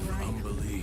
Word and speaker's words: Umberlee: What do you know of Umberlee, Astarion? It is easy. Oh, lots. Rhymes with undersea, for one thing.